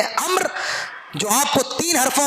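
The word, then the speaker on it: عمرو: उच्चारण में इसमें तीन अक्षर हो सकते हैं। लेकिन जब इसे लिखा जाता है , तो इसमें चार अक्षर होते हैं: ऐन, मीम, रा और वाव, जिन्हें अम्र पढ़ा जाता है।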